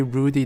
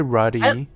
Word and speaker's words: ruddy: yeah by the way i also notice you say rudy that differently am i saying it wrong i don't know if you say it wrong that's just how i've always read it like saying like a ready complexion or something okay it's probably ruddy that sounds that sounds